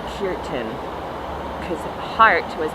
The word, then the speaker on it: Khertan: all very new anyway the word is spelled k h e r t a n curtain but you pronounce it i think puritan because heart was pronounced